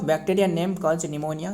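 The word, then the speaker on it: pneumonia: देखिए ये निमोनिया का मतलब है पी मतलब पी मतलब ये पी साइलेंट वर्ड रहे।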